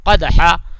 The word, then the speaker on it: قدحا: کی تلاوت کیجیے گا۔ قدحا قاف کو نکالیے گا، اور ہا یہاں پہ ہا کا تلفظ بھی حلق سے نکالیے گا، ٹھیک ہے نا۔ ہا